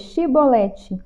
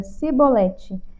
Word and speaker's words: chibolete: não então lhes diziam diz pois chibolete porém ele dizia sibolete porque eu não podia pronunciar assim bem então pegavam ele e